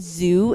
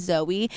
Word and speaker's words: Zoe: for doing that, and she would pronounce my name as Zoo, not as Zoe, and I think one